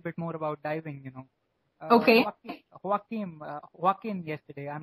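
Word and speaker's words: Joaquín: Joaquin yesterday. I'm not sure if I'm pronouncing his name right. Yeah, you're right. Yeah, Joaquin.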